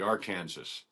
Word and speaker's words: Arkansas: Oh, on Gunsmoke they call it the uh they don't call it the Arkansas River. They call it the R Kansas. R Kansas, which you know that's how it's spelled.